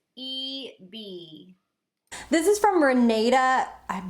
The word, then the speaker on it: EBY: y which stands by empowered by you it's pronounced e b this is from renee i'm hoping that i'm